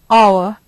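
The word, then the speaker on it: hour: our honest umbrella ma notice that while most of these words look like walls and sound like walls you will find that there are three or four words which don't exactly look like walls look again at slide six the words that seem to begin with consonant sounds or seem to begin with consonant letters are our honest ma but if you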